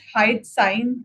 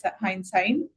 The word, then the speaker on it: hindsight: Um in terms of the improvement areas, hy sign I think was not correctly pronounced. Uh so it should be hindsight hindsight co got out.